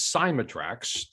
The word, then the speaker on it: Cymatrax: the pronunciation well it's actually the the correct pronunciation is cymatrax which is a combination of two different words